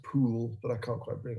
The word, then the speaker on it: Pole: concilium and also uh cardinal pole who is uh properly pronounced pool but i can't quite